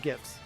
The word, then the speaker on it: GIF: poll in chat about GIFs and GIFs. I've never tried making polls in chat. Is it GIF or is it a GIF? Soft G. It's pronounced G-I-F. G-I-E-F. G-I-F because it's an acronym.